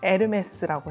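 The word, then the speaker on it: Hermès: 그전에 왜 에르메스라고 하 불어에서 h 무음이에요 그래서 에르메스라고 해요 제가 좀 충격받았던 에피소드가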